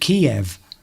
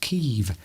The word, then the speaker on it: Kyiv: But for all my life, we always called it Kiev. But we now know that it's actually pronounced Kyiv since the war. But we always used to call it Kiev.